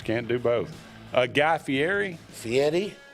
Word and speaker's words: Fieri: Fieri. Fieri is the correct pronunciation.